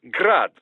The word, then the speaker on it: Grad: Technically, the Euchi's name is pronounced Grad the Ukrainian way, but most in the business pronounce it as Grad, Russian style.